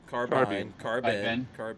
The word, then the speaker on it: carbine: Carbine. Yeah. He threw it up, and then what does it say? It says here, carbine, the bine or bean, pronounced like wine, so carbine.